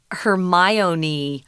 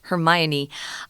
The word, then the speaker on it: Hermione: that point we realized oh we've been saying this wrong yeah it's Hermione Hermione um so these are